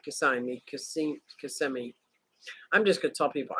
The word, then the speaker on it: Kissimmee: babe that's right Bob that's right way to pronounce it Kissimmee Kissimmee snailed it nailed